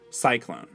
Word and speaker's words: Psyclone: its new star attraction cyclone and I should clarify that Cyclone is spelled PS y c o n e as in a little bit of psycho and a little bit Cyclone marketed as the ultimate